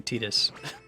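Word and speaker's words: Tidus: tetus welcome oh that's right I have to pronounce his name tetus I've been playing Final Fantasy 10 on stream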